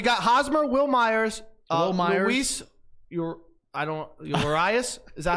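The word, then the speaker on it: Urías: Urias? Is that how you say it? Urias?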